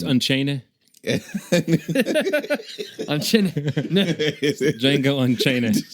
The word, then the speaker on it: Django: The D is silent. Okay. So, it's Unchain. on Jango Unchain.